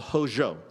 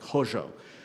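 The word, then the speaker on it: Hozho: about and it's a principle called Hojo h-o-z-h-o I'm not sure if I'm pronouncing that right but some of my Navajo teachers have pretty much that's about what it sounds like Hojo and what does it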